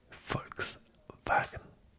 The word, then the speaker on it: Volkswagen: Volkswagen Volkswagen Volks Volks Volkswagen Wagen Wagen c'est tout simplement Volks peuple wagen laure Volkswagen Tas auto si te rappelles la pub avec feu. Le V se prononce F.